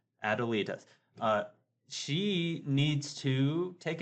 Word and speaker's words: Adelita: Okay, so I was pronouncing it wrong. Adelita.